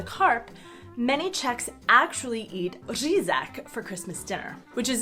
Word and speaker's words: řízek: Even though they keep up the tradition to buy the carp, many Czechs actually eat řízek for Christmas dinner, which is essentially schnitzel, but impossible for foreigners to pronounce, which makes it an especially Czech dish.